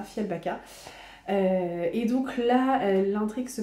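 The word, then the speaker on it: Fjällbacka: Ce que je peux vous dire, c'est qu'on retrouve la petite ville de Fialbaka, je crois que ça se prononce comme ça, Fialbaka.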